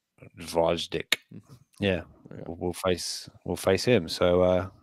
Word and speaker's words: Gvozdyk: Don't pronounce the G. Think about it that way. All right. This is Gvozdyk. Gvozdyk.